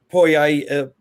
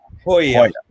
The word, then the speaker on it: Poirier: And Poirier is on his way down to the octagon now.